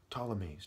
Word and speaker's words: Ptolemies: Ptolemies, do the wordplay, okay? Silent P in that word.